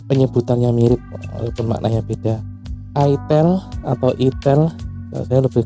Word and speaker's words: itel: Itel atau Etel. Enggak usah sok-sokan e apa geli bacanya biar enggak salah ucap karena tulisannya gitu. Jadi bacanya enggak usah enggak usah saru-saru, enggak usah malu-malu, sebut aja namanya. Itel. Nah, gitu. Karena bahasa Indonesia ya. I T E L. Itel. Itel. Itel. Enggak apa-apa itel ya.